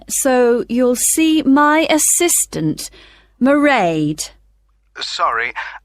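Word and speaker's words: Mairead: be working then so you'll see my assistant merade sorry how do you spell that it's m a i r e a d marade okay got that it's not a name i'm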